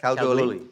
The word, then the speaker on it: Kalgoorlie: He's head of medicine at, is it pronounced Kalgoorlie Hospital? Yeah, that's correct. Kalgoorlie, yeah.